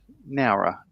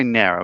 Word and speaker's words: Nowra: How would you say Nowra? Would you say Nowra? Or how do you spell it? N-A-W-R-A. N-O-W-R-A. Nowra? Nowra. Yeah, Nowra. Right. Oh. So how am I saying it different? Exactly. It's the only time you sound like you've got an accent.